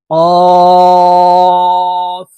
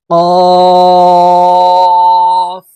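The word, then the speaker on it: ق: উচ্চারণ করব ফা ফা কফ জিহ্বার গোড়া থেকে কফ হরফের উচ্চারণ হবে কফ কাফ কাফ হরফ জিহ্বার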